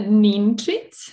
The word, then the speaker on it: Ninčić: going to tell me exactly how it has to be pronounced please yeah it's a neen treat um and as i